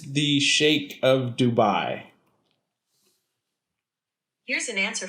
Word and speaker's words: Sheikh: pull it up yeah it's spelled chic on the wikipedia yeah i even googled it the other day and it came up as shake really yes like when